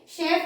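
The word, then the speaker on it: chef: now another interesting word this is शेफ चेफ नहीं होता ये शेफ होता है एंड द इंटरेस्टिंग थिंग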